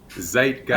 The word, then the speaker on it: Zeitgeist: the show for us zeitgeist i'm sure it's called yeah it's like guys i thought so too